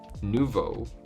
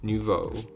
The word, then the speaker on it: nouveau: godspeed kitty now says art nouveau nuvo new in french nouveau cool okay nouveau i should